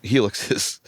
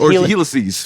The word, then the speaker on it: Helices: We're actually all using Helixes. Isn't it Helices? Helices. Excuse me. I didn't want to be a jerk about it. Helices.